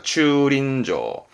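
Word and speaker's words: 駐輪場: 다릅니다 주륜장입니다 이건 박희륜잔데 륜이라서 발음이 링 됩니다 발음은 츄린저입니다 추린저 그러면 주륜이 뭐냐면 앞에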